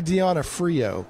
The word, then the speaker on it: D'Onofrio: Yeah, that's actually Deanna Frio. But yeah, I didn't know how to pronounce it.